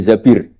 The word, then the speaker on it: Zabir: Kemudian saya nikah sama Abdurrahman bin Zabir. Di hadis ini bacanya bukan Zubair tapi Zabir.